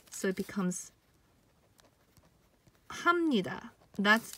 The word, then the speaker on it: 합니다: own is pronounced as hop neat ah but when it's pronounced together it becomes hamnida so it becomes hamnida that's how you pronounce